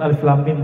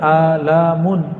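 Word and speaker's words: الم: Karena bahasa mereka masih bahasa bumi, sedangkan alif lam mim bahasa langit. Ya, semua orang Arab bingung. Kita alhamdulillah diizinkan Allah Subhanahu wa taala mendapatkan ayat-ayat seperti ini. Dan dibacanya bukan alamun. Alamun artinya penyakit, sakit.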